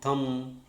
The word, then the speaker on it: thumb: Okay, but in some words it is silent. For example, comb, climb, bomb. When B happens or B comes after M, such as thumb, and then when T